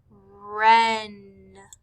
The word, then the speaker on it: wren: On number 5, we would have circled the words right, wren. Right, wren. Both of these words began with W-R, but since the W is silent, all we hear is the R.